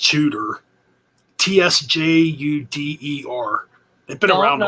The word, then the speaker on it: Tsjuder: They've been around for a while, but it's pronounced Judah.